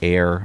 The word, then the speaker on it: Ayer: Goes from Nasha, New Hampshire to downtown Air, Massachusetts. And we spell that A Y E R.